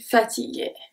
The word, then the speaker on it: fatigué: The U after the G is silent is there to make sure that we pronounce the G as a hard G.